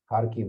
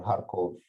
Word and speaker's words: Kharkiv: for for a week kharkiv or harcourt there's two ways of pronouncing it um if i